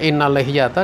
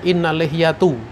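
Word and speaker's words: إن اللحية: Harusnya innal lihyata, dia baca innal lihyatu.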